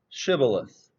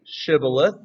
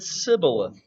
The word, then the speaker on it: shibboleth: issue those from ephraim couldn't say shibboleth they said sibyllith for whatever reason they they pronounced it differently and so i guess